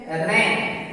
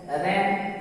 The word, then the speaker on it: reign: जैसे रैन REIGN, तो यहाँ n के पहले जी है इसलिए जी साइलेंट है रैन।